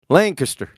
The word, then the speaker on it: Lancaster: Lancaster Archery Lancaster did I say it right Lancaster yeah Co beans man okay cool I knew